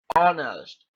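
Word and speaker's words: honest: और यहां पर ऑन एच साइलेंट है। एच नहीं बोलता है। ऑनस्ट ठीक है?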